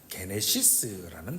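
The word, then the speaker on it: γένεσις: 여기서 나심이라는 헬라어 단어는 우리가 잘 알고 있는 대로 여러분 게네시스라는 단어입니다. 이 단어를 우리가 흔히 어떻게 읽죠? 영어로는 제네시스라고 읽는 단어입니다.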